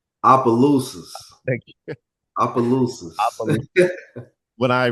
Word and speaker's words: Opelousas: I'm doubting my pronunciation here, so I might need your help. Opal Sayas? Opelousas.